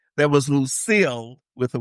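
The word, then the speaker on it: Lucycle: strange other than Pamela with a Y is Lucille because it looks like Lucy. So it's L U C Y C L E but it it's Lucille.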